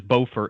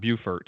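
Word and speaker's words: Beaufort: anyone listening to it it is bofer and not bufort even though it's spelled that way I've learned that by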